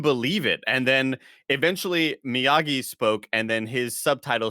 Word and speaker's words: Miyagi: g's that often right like the g is usually a hard g it's a miyagi right but also it doesn't